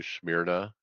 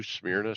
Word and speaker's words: Smyrna: New Smyrna Speedway is putting on a iRacing competition.